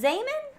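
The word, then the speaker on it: Zeeman: And is it Zaman? Yeah. You got the pronunciation? Yeah, he's Dutch. Oh, okay, because it's spelled Z-Man. Yeah, it is spelled Zeman, but it is Zaman.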